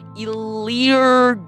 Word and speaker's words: Elyr: Elyr. That is my name. Elyr. It is pronounced Elyr, as if elephant, yo-yo, and low grades, and raccoon.